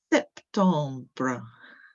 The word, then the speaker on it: septembre: Septembre, septembre, septembre. So you've got a little one at the end with that br sound.